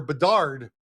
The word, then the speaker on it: Bedard: There are some very bad teams this year in the NHL, and there's a very good draft pick, Connor Bedard, Lawrence. I pronounced it correctly.